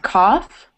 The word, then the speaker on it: cough: There's also off, like cough.